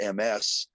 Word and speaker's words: Ms.: So somebody invented MS with a period pronounced Ms.